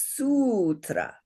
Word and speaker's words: sutra: So this lovely word is sutra. Sutra. And we're going to exaggerate because we're learning the long ones, right? Here's the drum. Sutra. So it has 2 syllables, but 3 beats.